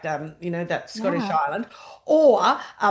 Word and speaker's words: Islay: They have kids that live on the island. Like I know their story now too. Yes, yes. And the island is called Isla. It's when you read it, it reads Islay, but it's Isla, pronounced over there.